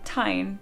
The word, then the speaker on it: tine: It should be tine because there's an E at the end. It makes the vowel long.